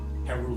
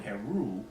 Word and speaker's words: Heru: in the Kemetic language, when we hear the word Heru, that ul sound at the end is a sound that seems to evoke plurality.